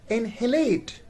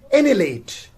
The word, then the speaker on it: annihilate: So it is not inhalate, but it is annihilate. It is pronounced as annihilate. So H is silent here.